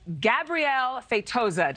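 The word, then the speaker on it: Gabriel Feitosa: Animal artist, Gabrielle Feitosa. Did I say your name right? Yes, you said it right.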